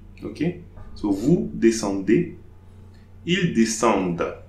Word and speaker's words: descendent: ENT at the end of the verb is pronounced E, and it will be called a mute E. So I'm not pronouncing the mute E, I'll pronounce the D before.